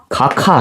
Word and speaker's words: 각하: 각하 이렇게 발음하죠. 이유는 앞에 있는 기역과 뒤에 있는 히읗이 만나서 뭐가 돼? 키읔이 된다 이런 얘기예요.